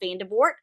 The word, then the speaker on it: Vandevort: Mel Vanderbort. And hopefully I'm saying your last name correctly. That's how I'm pronouncing good.